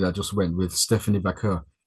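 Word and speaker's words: Vaquer: just went with Stephanie Vakur. She didn't say her name right. She called her Stephanie Vure or some or some Apparently it's making her racist apparently.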